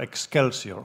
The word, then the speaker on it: excelsior: sapiens, now they talk about the Homo excelsior, or excelsior, to pronounce it in the Ciceronian way.